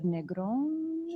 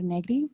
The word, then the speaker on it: Negri: But what we do have is 100 years later, Cesar Negron, is that? Yeah, Cesar Negri. Sorry, I'm like doing the Spanish pronunciation.